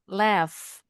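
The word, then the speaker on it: laugh: Left. GH-nya bunyinya udah udah benar tadi bacanya. Left. Heeh. Nah, berarti GH-nya bunyinya F.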